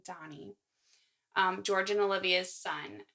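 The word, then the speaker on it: Dhani: i'm pronouncing that right it's d-h-a-n-i so i'm thinking donny um george and olivia's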